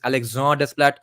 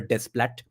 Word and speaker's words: Desplat: actually Alexander desplat and different people pronounce it in different ways some say it's Alex desplat some say it's Alexander Splat I I pronounce it just the usual way that the spelling seems to tell me it's Alexander desplat so Alexander desplat did